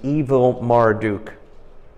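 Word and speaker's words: Evil-Merodach: in the 37th year of the Exile of jehoiah chin of Judah in the year of the way you pronounce this is evil Marduk came king of Babylon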